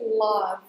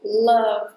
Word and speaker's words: love: Some people say "lauv". Try to change it to "love" instead. That's the sound that you have to use here and this word ends at V. "love". Don't say the E sound at the end.